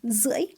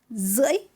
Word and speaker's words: rưỡi: Alex, be careful with the tone on rưỡi. It has a tilde tone, dấu ngã. Your voice need to deep and rise. Rưỡi.